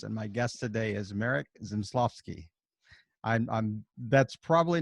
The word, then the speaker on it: Zmysłowski: This is with another episode of Rising Tide Startups, and my guest today is Marek Zmysłowski.